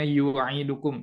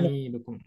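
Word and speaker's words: نُعِيدُكُمْ: Tadi Ibu bacanya yu'idukum. Ini Oh, ya, nu'idukum.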